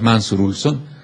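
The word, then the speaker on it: Mancur Olson: se llama mansur ulson escribe mancur Pero es mansur ulson en la pronunciación eh que en los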